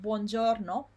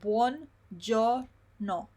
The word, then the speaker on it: buongiorno: Then I said to you, when you have long words like buongiorno, make sure that you pronounce them slowly first, so that you pronounce every single syllable first. So you go little by little. Buongiorno, forchetta.